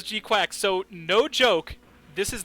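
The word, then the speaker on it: GQuuuuuuX: and sunrise are producing Mobile Suit Gundam G okay pronounced as G quack so no joke this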